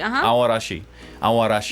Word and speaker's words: Aoarashi: I feel like uh aashi aashi you don't really pronounce a that much it's kind of like almost aash aashi aashi wonder what that means